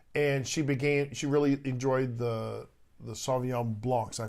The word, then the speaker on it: Sauvignon Blanc: And she really enjoyed the Sauvignon Blancs. I pronounced that right?